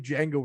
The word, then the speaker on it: Django: It's not like Django where he's like the D is silent, hillbilly.